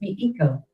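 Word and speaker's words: Mēxihco: The original naw name was Mexico pronounced in medieval Spanish. It was transliterated as Mexico and pronounced with the X sounding like sh.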